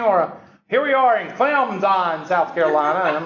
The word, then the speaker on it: Clemson: Since ESPN started coming to Clemson, they pronounce it Clemson because they don't want to pronounce the P, because all the toothless rednecks around here, we pronounce the P, Clemson, So they don't want to be associated with us, so they go Clemson.